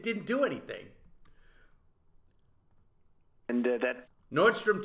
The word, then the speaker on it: Nordstrom: look at how now a lot of people get it wrong they pronounce it nordstroms that's that's wrong it's just nordstrom various people performed namely